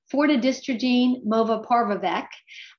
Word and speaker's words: fortidystrogene movaparvovec: And it has a new generic name that is a mouthful, but I'm going to do my best to pronounce it. It's fortidystrogene movaparvovec.